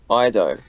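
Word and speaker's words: Iaido: Oh, Ido.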